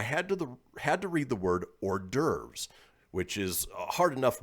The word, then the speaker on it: hors d'oeuvres: grade school, I had to read the word hors d'oeuvres, which is a hard enough word to read. It's H-O-R-S space D apostrophe O-E-U-V-R-E-S. Too many damn vowels. Yeah, hors d'oeuvres. And they pronounced it horse doovers.